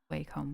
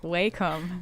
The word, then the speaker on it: Wacom: Us Aussies say Wacom weirdly. And Apparently you're saying it right, so you good. Yes. we're the ones that are saying it wrong. Some reason we get it really wrong.